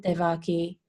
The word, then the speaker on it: Devaki: Am I pronouncing her name correctly, Yeah, Maharaj? Devaki, yeah, Devaki.